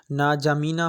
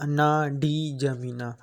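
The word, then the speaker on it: N'Djamena: Chad का जो capital है उसको आप जिस तरीके से प्रोनाउंस करें आपकी मर्ज़ी है, ना जामीना हो या ना डी जामीना। अक्सर कर डी को मैं तो समझ रहा हूँ कि यहाँ पर साइलेंट होगा और उसकी करेंसी है फ्रैंक।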